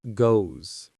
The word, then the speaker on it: goes: But a native speaker with a general American accent will almost always make it a Z sound, a buzzing sound.